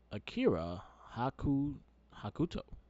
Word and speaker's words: Akira Hokuto: You picked Akira Hakuto. Did I say it right? Yes, sir.